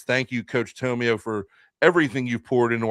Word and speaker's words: Tomeo: Some people pronounce it Tomeo, but I think it's Tomeo. The Coach Dom Tomeo from Triton Regional High School.